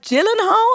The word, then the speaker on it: Gyllenhaal: or Ben Affleck Jake I think it's pronounced Gyllenhaal I used to always say Gill in the home but I've been I've been hearing it pronounce this Jillian house let's go with that and Billy Bob Thornton